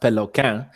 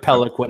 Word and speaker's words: Peloquin: Yeah, so the name is French Canadian. It's pronounced Peloquin, but I don't want to sound like a total douchebag. So I just go with Peloquin. It's so much easier.